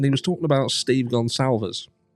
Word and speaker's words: Goncalves: Talking about something that Get a Clue said, and he was talking about Steve Gonsalves. Not Steve Goncaves or Gonclaves or anything like that. Steve Gonsalves, Goncalves.